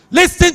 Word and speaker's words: listen: Listen to me. Is wrong. You say, listen. Sometimes, most unfortunately, the person you're scolding knows you're wrong.